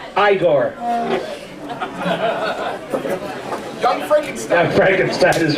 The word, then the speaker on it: Igor: No, it's pronounced Igor.